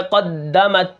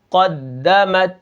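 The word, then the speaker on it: قدّمت: سب سے پہلے کیا ہے، قاف دال زبر قد، دال زبر دا، قد، میم تا زبر مت، قدمت۔ اب یہاں پر دیکھیں قاف دال، تشدید جو ہوتی ہے پیچھے والے حرف کے ساتھ مل کر پڑھی جاتی ہے، لیکن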